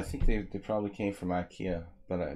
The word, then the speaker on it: IKEA: they probably came from Ikea but we say IKEA in America it's very weird we should say it like the Swedish saying how do they say it gaya something like that alright this is lame